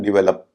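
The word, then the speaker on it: develop: Second syllable पे stress होता है। तो इसका उच्चारण डेवलप।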